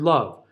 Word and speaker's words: love: silent letters in English for instance the word love really common word to have to sing we sing about love all the time be sure that you don't put any kind of a schwa on the end of that when you're kinetise izing